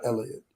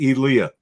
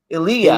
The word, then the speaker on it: Elia: AL hirsfield story yeah like not Elliot Eli Elia it's Elliott because how do you say his name actually you say Elia Elia okay you hit the e and I actually have